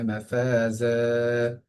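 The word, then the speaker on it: مفازا: মাফাজ, ফায়ের মধ্যে একাধিক এবং জায়ের মধ্যে একাধিক, মাদের হরফের যে নিয়মটা সেটাই রিপিট হচ্ছে।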